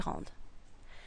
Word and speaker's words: rende: So it becomes que je rende, que tu rendes, qu'il rende, qu'il rende. This word, and this word are all pronounced the same, rende.